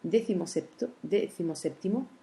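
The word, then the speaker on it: decimoséptimo: On voit que décimo avait un accent écrit, septimo aussi, mais décimo septimo, c'est un mot composé et il garde seulement l'accent tonique sur le deuxième mot.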